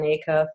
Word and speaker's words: Acuff: I don't know if you're familiar with Jon Acuff that's how you say his name then he